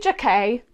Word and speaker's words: Jacquet: Take It By The Line is the debut poetry collection from Chloe Jacquet. Chloe Jacquet rhymes with croquet, duvet, and poetray.